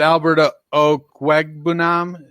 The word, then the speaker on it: Albert Okwuegbunam: At 2, I went with Albert Okwuegbunam, I think is how John told us to pronounce it.